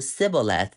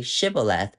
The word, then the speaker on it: Shibboleth: But if you pronounce it correctly, say Shibboleth, then that means you are from other tribe, then it's no problem.